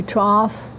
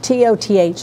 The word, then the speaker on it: Toth: Matthew Troth, there's no R in that. T-O-T-H is the last name. Cricket's Fort, $50. I think Toth is a good way to pronounce it.